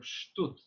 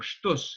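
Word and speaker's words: שטות: Sishta is also very similarly connected to the word of shtut, or shtus, if you want Ashkenazi pronunciation.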